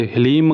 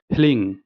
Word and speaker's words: ह्लीं: कुछ लोग इसे हिलिंग कहते हैं, कुछ लोग इसे हिलीम कहते हैं, कुछ लोग हलीम कहते हैं, कुछ लोग हलरीम कहते हैं। सभी अपने जगह सही है, परंतु मैं हिलिंग ऐसे ही उच्चारण करता हूँ, तो मैं आपको यही कहूँगा कि आप हिलिंग ऐसे ही करें।